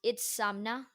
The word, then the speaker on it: Itzamna: calendar to the Mayans, is Itzamna, and it's pronounced Itzamna.